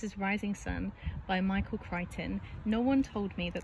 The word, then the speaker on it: Crichton: jacket so this is rising sun by michael crichton no one told me that that is how you say his name i've been calling him christian ever since i read jurassic park which was